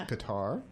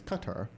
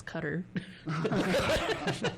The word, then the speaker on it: Qatar: I used to think the pronunciation of the country spelled Qatar. I always thought that was Qatar. And then I heard someone from there pronounce it as Qatar. Yep. Huh. Okay. And my horrible Anglo-maiming of that as Cutter.